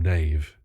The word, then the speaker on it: Nav: our report to Headmaster nav Li is rude no one the cast don't like her name that one I up there Headmaster Headmaster nav I swear they pronounce his name Nave huh he's not here